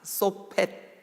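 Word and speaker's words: שׁוֹפֵט: 그래서 이 사사 소펫 원래 이제 이 발음까지 해야 돼. 소펫 이게 그러니까 그 발음이 소펫예요. 소펫.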